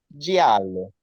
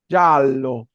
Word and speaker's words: giallo: Giallo, color amarillo, giallo. Y siempre la doble L se pronuncia con pausa, nunca se pronuncia como Elye, como nosotros la tenemos en español.